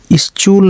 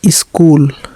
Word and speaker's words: school: SCHOOL स्चूल नहीं बल्कि स्कूल, CH का उच्चारण यहाँ पर का पढ़ा गया, ठीक।